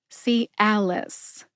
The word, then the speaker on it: Cialis: if I have some Calis on my shelf Today l as in alcohol and Liss which rhymes with kiss put it all together